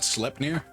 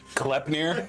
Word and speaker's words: Sleipnir: Is that Sleipnir? Well, that's what I said, but I'm Where sure. my brain went. Knowing Ravik, it's probably Sleipnir. It's actually Klepnir. The S is silent.